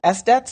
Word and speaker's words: SDET: And this idea of software development engineers and test, SDETs, is that how you say it?